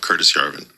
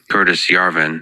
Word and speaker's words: Curtis Yarvin: Let's talk about the problem of Curtis Jarvin. Curtis Yarvin.